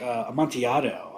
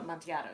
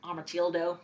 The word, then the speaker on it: Amontillado: Amontillado, yes. The Edgar Allan Poe story. Yes. I get self-conscious about Amontillado. I can never pronounce it. I'm like, Amotildo.